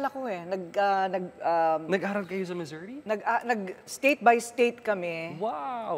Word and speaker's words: Missouri: Missouri, actually. Why? That's how you pronounce it. Missouri.